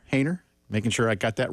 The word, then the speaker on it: Haener: Haener. Making sure I got that right. Like hater, but with an N where the T is.